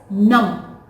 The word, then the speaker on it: numb: little surprise that is numb n u m b but B is silent over here so it is if